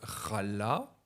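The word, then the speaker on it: חלה: En hébreu, il y a des jeux de mots parce que la racine chala, donc qui donne ce verbe être malade, elle s'écrit et elle se dit exactement la même chose, chala, pour le gâteau que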